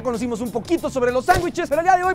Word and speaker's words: sándwich: Sandwich. El error está en decir sandwich.